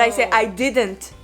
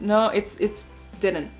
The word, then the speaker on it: didn't: No, it's didn't. Yeah. Didn't. Your husband is right. So you don't do the t, right? So you just eat it.